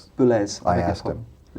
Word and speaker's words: Boulez: It's pronounced Boulez. Boulez.